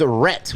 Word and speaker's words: Rhett: His name is Rhett with a silent H. Go ahead. We Hello. say the H when we're mad at him. We go, Rhett.